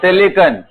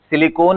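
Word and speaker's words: silicon: है ये कार्बन का सिलिकन कार्बन सिलिकन देखो मिस प्रोनाउंस नहीं करना सिलिकॉन इज a polymer सिलिकन इज an element याद रहेगा ना सो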